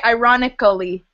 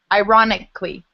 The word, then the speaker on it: ironically: L-L-Y, you wouldn't say ironically. Ironically, you would say ironically. So it looks like Ali, but it's just Lee.